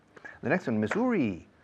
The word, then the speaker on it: Missouri: The next one, Missouri, M-I-S-S-O-U-R-I, y latina al principio al final.